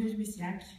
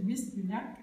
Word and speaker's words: Lluís Llach: J'ai même forgé ma bonne prononciation du catalan avec son nom, parce qu'il y a le double L, qui n'est pas tout à fait un Y espagnol, comme le Louis Slage.